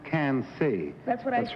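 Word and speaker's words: Quincy: q u i n c y yes it's pronounced can C that's what I that's right yes that's right she well that's odd but uh it's spell Qi NC y but pronounce can say well what color if you drink too much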